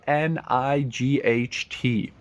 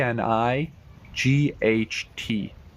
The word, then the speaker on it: knight: word number one K N I G HT try and pronounce the word K N I G HT night night yes silent k night well done next